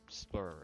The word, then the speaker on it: SSBlur: I'm Splur. Are you pronouncing the S? The S's are silent. They stand for silent S's. Splur.